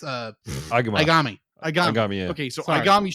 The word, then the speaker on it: Aigami: It's Aigami.